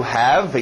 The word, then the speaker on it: have: To have, engole o V.